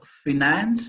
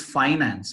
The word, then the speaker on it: finance: The answer is both are correct. It all depends on whether you're using British or US accent.